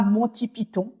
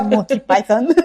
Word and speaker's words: Monty Python: sacrégal oui alors déjà on va clore le le débat c'est comme fausse ou faussie ici on dira Monti Python et pas Monty Python mais voilà on on le prononcera la française et donc vous les